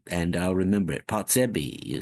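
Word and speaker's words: Potrzebie: It's a It's a Polish word.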